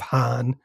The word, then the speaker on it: Hahn: the term "Wrath of Hahn" because it rhymes with Khan.